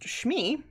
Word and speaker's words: Chamois: Chamois, pronounced Chamois.